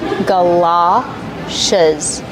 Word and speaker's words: galoshes: Ga, like up and cup, gala. It's an open sound, like stop and hot, galoshes.